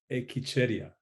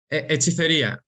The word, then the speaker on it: HechicerIA: And how do you pronounce it? HechicerIA. HechicerIA.